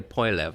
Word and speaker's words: Poilievre: his last name, Pierre Poilievre, I think is how he pronounced it. Poilievre, that's what I was saying. Poilievre is the French name, but he's got an anglified version of it.